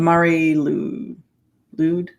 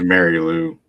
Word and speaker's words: Mari Lwyd: The Mari Lwyd. I think of it as Mary Lou. That's what it sounds like.